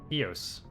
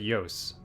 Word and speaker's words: Ilos: Go to Eos. Or is it Yos? It's two L's. If you pronounce it in Spanish, it would be Yos. Could be Ilos.